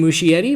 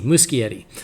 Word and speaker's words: Muschietti: so it's andy muschietti so i've been saying mushy eddie but he i heard him say it himself so he it's a hard c musky eddy uh and his sister